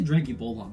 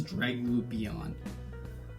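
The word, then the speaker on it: Draglubion: how to say this i say drankie bulldog but that's not right it's dragging beyond uh so what he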